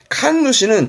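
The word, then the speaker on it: 神主: 가끔은 요거 발음은 칸누시입니다. 음이 칸으로 가요. 음으로는 신하고 뜻으로는 감이긴 하지만 칸 발음도 있다라는 거. 칸누시는 저 위에 있던 진자, 그 신사의 주인을 칸누시를 합니다만은 중요하진 않고요.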